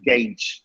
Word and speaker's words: gauge: salon okay police next it's gauge not gauge or i don't know the measure yeah gauge okay i was trying to gauge the students listening to their accents the first day i was trying to gauge okay engage solar money i was trying to gauge no gauge up here i don't know what you say but it's gage next is a beautiful